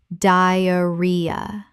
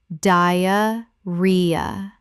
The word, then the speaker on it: diarrhea: diarrhea Common mispronunciation. diarrhea Correct pronunciation. diarrhea The stress is on the third syllable.